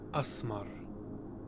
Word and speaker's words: Esmar: Esmar is another Arabic name. Esmar Tuek. Frank Herbert's pronunciations do come close to the actual word. It should really be pronounced Asmar.